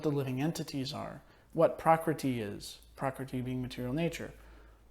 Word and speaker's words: prakriti: living entities are, what prakriti is, prakriti being material nature, what the cosmic manifestation is, so the world around us. Is it prakriti? Prakriti. It's not a long E.